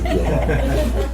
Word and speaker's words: Piedmont: That's how I pronounce Piedmont. That's how we pronounce it in Georgia, Piedmont.